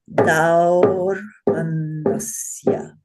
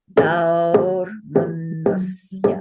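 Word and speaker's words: दौर्मनस्य: This word is pronounced daurmanasya. Daurmanasya. Say with me. Daurmanasya. It's a little challenging to hold that for 2 syllables, 2 beats, but you can do it.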